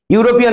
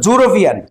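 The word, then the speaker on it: European: তো ইংল্যান্ডে উচ্চারণটা করে ইউনিভার্সিটি, ইউনিফর্ম, ইউনিটি, এভাবে ইউরোপিয়ান না, জুরোপিয়ান। দেখবা তোমরা অনেক রবীন্দ্রনাথ ঠাকুরের বই জ দিয়ে আছে, ইউরোপিয়ানকে জ দিয়ে উচ্চারণ করে ওরা, সেই জন্য জটা হলো কনসোন্যান্ট, সেই জন্য জ যেহেতু কনসোন্যান্ট সেই জন্য এ বসে।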